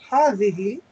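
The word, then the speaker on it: هذه: It is pronounced hadhihi, but the alif is omitted in writing.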